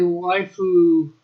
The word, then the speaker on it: waifu: It's a Japanese way of pronouncing the English word wife.